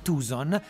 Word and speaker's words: Tucson: Siccome però è una delle città americane con i salari più bassi, i tucsoniani, la pronuncia corretta è Tucson, scherzano dicendo siamo pagati meteorologicamente più che in dollari.